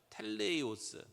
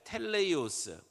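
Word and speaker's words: τέλειος: 텔레이오스. 한번 헬라어 발음 좀 해 볼까요? 따라서 해 보세요. 텔레이오스.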